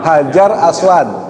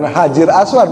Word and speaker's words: Hajar Aswad: apa bacanya Al hajaru hajar aswadar bukan Hajir Aswad bukan bukan enggak ada Hajir Aswad artinya Hajar Aswad makanya dibacanyaar alhajaru artinya